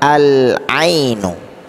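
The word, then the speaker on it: العين: Cara membacanya adalah al-ainu. Al-ainu. Jadi alnya jelas. Kenapa jelas? Dibaca dengan jelas karena bertemu dengan huruf qamariyah, yaitu huruf ain, ya.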